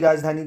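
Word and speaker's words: Roseau: Dominica देश ने दिया है डोमिनिका देश की राजधानी क्या है दोस्तों रोजो क्या है रोजो आर ओ एस ई ए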